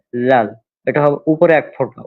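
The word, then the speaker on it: ذال: হ্যাঁ, এই দাল এবং তারপরটা হচ্ছে লাল, এটা অনেকটা নরম করে উচ্চারণ হবে লাল।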